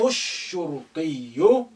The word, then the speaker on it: الشرطي: يبحث Again, alif is silent because it's not at the beginning. Lam is silent because sheen, which is sun letter, after it, and is carrying the shadda. Therefore, you link the thu with the first sheen, which is carrying sukun. يبحث الشرطي عن اللي.